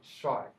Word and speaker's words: Shuai: How do you say that? Shy. Okay. Just like it sounds, just like it's spelled.